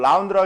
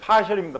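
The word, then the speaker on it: ∂: 들었죠? 파셜이라고요. 파셜. 라운드라고 읽지 마세요. 파셜입니다. 파셜.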